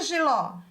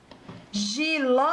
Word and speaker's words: jiló: lá acento agudo palavrinha jiló jiló muito bem e você que disse que a sílaba tônica é um ó agora me diga você